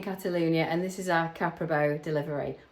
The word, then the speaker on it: Caprabo: We're a British family living in Catalunia and this is our Caprabo delivery or if you're saying it correctly, Caprao.